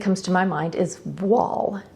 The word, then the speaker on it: voile: Now, after looking at this incredibly sheer cotton fabric, the next thing that comes to my mind is voile. It's spelled V-O-I-L-E, and voile means veil in French.